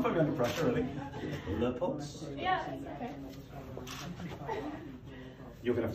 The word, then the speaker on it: Leupolz: Leupolz.